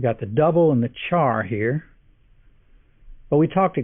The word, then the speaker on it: char: values whose type is char by the way I pronounce c-h-a-r but care is also an equally acceptable pronunciation since it's short for character and speaking of putting